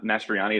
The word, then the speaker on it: Mastroianni: yeah my name's um mastriani is how you say my last name in case it's an